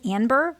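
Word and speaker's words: Anber: My name is Amber with an N, so Amber but with an N. It's not any fancy pronunciation. A N as in Nancy B E R Amber.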